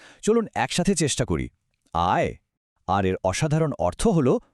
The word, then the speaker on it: 爱: এর উচ্চারণও আগেরটার মতোই আয়, কিন্তু স্বর বা টোনটা একদম আলাদা। এখানে স্বরটা বেশ জোরের সাথে ওপর থেকে নিচের দিকে নামবে। আয়। চলুন একসাথে চেষ্টা করি। আয়।